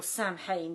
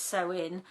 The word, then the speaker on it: Samhain: various different names so if i've mispronounced what i would call samhain but it isn't it's so in it's a festival that